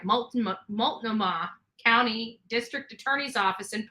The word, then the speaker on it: Multnomah: how to pronounce this mulch no ma that doesn't sound right Multnomah County District Attorney's Office